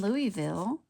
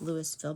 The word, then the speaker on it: Louisville: In Louisville, looks like Louisville, but we say Louisville.